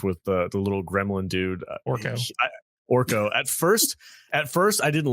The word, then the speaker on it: Orko: I thought Evelyn and Gorgo, is that his name? Orko. Hey, Orko. Kadish, you're saying her name wrong, man.